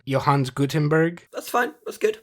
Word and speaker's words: Johannes: In 1440, maybe you can help me with this pronunciation, Johannes Gutenberg. That's fine. That's good. Great. Johannes, but that's fine.